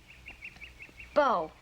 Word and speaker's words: bow: Spell bow, like I'd wear in my hair. Bo. I think we ought to wait on Bo.